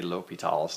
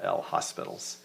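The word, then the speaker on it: L'Hôpital: but I think that for the correct French pronunciation is this French guy and people say l'hopital's now so that's what i'll try to say not l hospitals okay so l'hopital's rule to solve limit so let's review limits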